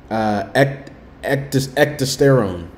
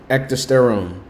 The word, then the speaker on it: Ecdysterone: Ecdysterone. Ecdysterone.